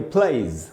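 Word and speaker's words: plays: और दोस्तों अगर कोई भी वर्ड वाई से खत्म हो रहा हो तो वाई से खत्म हो रहा है उसमें अगर एस लगेगा तो उसमें भी एस का उच्चारण ज होगा। जैसे प्ले मतलब खेलना, और उसमें एस लगा तो इसको पढ़ेंगे प्लेज, प्लेज। तो दोस्तों ये एस के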